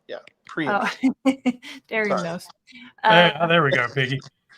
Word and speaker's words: preemption: Federal preeemption. I think I said it wrong. Yeah, preemption.